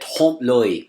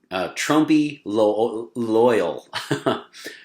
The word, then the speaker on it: trompe-l'oeil: So we're going to take a closer look at trompe-l'oeil. So this is spelled Trompe L'Oeil. So it looks like Trumpy loyal. Nothing to do with President Trump, okay? Trompe-l'oeil.